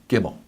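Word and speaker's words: גימל: it that B sound the third letter unlike English is not C but as in many other alphabets is the G sound and it is the word get her the letter gimel gimel good good gimel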